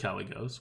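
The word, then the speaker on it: Kalecgos: want to play with Callie goes which makes Callie goes basically free oh you're actually pronounce it correctly now nice oh it's just Callie go so you don't pronounce the C it's like a soft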